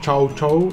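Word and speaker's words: chow chow: il 18 il giotto non si pronuncia ciao ciao non lo so però si scrive letteralmente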